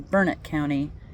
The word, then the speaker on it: Burnett: marathon but pronounced marathon, just like I live in Burnett County, which if you were looking at it is Burnett, but not here in Texas. It's Burnett County.